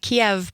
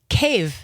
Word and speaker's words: Kyiv: a nonprofit based in Kyiv, not Kyiv, not Kiev, but Kyiv There you go. is the appropriate way to pronounce it.